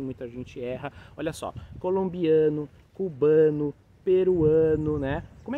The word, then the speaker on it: colombiano: Eles têm o A aqui, mas na boca, é oral. Então você vai falar Colômbia, colombiano.